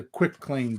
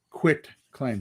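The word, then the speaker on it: quitclaim: let's move on to quick claim deed quit claim so it's spelt q-u-i-t yeah it's all one word quick claim quit claim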